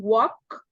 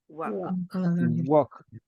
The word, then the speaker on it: walk: we said we can walk please repeat after me walk walk walk walk walk walk walk you don't pronounce the L the L is a silent letter don't pronounce do not